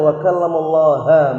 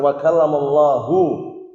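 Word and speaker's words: وَكَلَّمَ اللَّهُ: Ayat itu bacanya wa kallamallaha Musa taklima. Artinya Nabi Musa mengajak bicara Allah Subhanahu wa taala dengan sebenar-benar pembicaraan. Keliru enggak ini? Keliru. Yang tepat wa kallamallahu, sebagaimana yang sering kita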